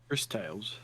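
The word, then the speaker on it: Cris Tales: Chris Tales? Yeah. Not like CHRIS, it's just CRIS. But it's still pronounced Chris, so it doesn't matter.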